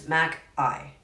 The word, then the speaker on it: Mackaye: It's Mackaye. Okay. Yes, that was how we do it. Just I. Mac and cheese.